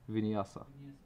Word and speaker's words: Vinyasa: Do you know the pronunciation? Yes. Vinyasa.